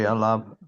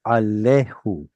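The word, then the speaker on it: עליו: I was like, no, it's got to be Alav. the original form of the word was alehu.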